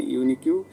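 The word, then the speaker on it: unique: শি হ্যাজ এ ইউনিকিউ sense of হামার, ওকে, এ হবে এখানে ইউনিকিউ, ইউটে ইউর মতন উচ্চারণ হচ্ছে, এই জন্য এখানে অ্যান না বসে এ বসাবো।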